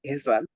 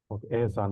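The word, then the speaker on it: Ahsan: I pronounce your name so like you have to say it is eh HSN it pronounce asan asan right yes okay Mr asan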